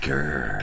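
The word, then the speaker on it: Ghur: You gotta say it like that. Grr.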